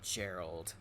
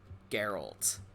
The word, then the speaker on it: Geralt: you can say is not gerald geralt oh dreadful sorry he